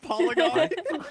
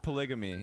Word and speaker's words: polygamy: He's talking about polygony. Polygony? Polygamy at first. But it's polygamy.